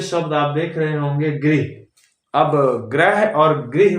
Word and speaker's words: गृह: बातें बोल देते हैं जैसे गृह मंत्री बोलना होता है तो बोलते हैं ग्रह मंत्री है ना ग्रह तो नक्षत्र होते हैं प्लेनेट होते हैं तो गृह मंत्री को गृह मंत्री